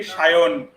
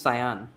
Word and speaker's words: Sayan: And in Bengali, we spell it like Sayan, but we pronounce it like Shayon. It's a with a Hmm. O. Shayon. Yeah, yeah, Shayan. yeah. And in English, it's Sayan.